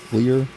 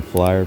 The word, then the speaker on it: FLYR: Yeah, in English you would probably say flyer because it's spelled FLYR, but obviously with the Norwegian pronunciation, they call it Clear.